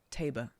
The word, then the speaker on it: Tabor: hold thy Noble blood Tabor rhymes with labor okay table sacred hold